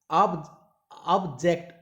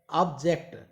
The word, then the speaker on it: object: Next object, once again object, ऑब्जेक्ट, ऑब्जेक्ट, ऑब्जेक्ट यानी कि जेक्ट में स्ट्रेस दिया जा रहा है, तो आंसर क्या होगा, अब देखिए answer, read the entire contract before signing it.